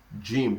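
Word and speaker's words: جيم: Jim, that's how we pronounce it. We pronounce what? Jim. That is a light J, with a light J.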